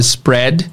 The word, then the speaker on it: spread: It spreads, nós temos a palavra spread. Aqui é um caso raro, que tem duas vogais, E e A junto, mas a pronúncia não é I, não é de longo, a pronúncia é de spread, ed, né?